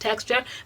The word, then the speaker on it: TXTR: but don't tell me that txt are is pronounced texture but they tell me that they do say